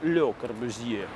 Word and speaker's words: Le Corbusier: Французский, кстати, он произносится как «Le Corbusier». Здание это было построено по проекту бюро АРУ, это архитектурные урбанисты они назывались.